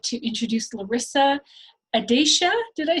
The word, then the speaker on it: Adatia: So with that, with gratitude and thanks, I'd like to introduce Larissa Adatia. Did I say it right, Larissa? Oh, you're muted. Adatia, it's a hard T.